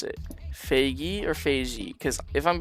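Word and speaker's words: Feigi: And if it's Faggy, just type like GE. Just for pronunciation purposes. For spelling, I'll spell it F-E-I-G-I.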